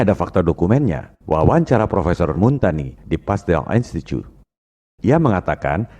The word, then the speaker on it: Montagnier: Kalau bahasa Prancis, ucapan dan tulisannya memang beda. Bombardier, bacanya Bombardier. Louis Pasteur, bacanya Louis Pasteur. Montagnier, bacanya Montagny.